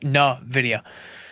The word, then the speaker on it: Nvidia: do nothing and then Nidia which again is pronounced Nvidia 39 days to go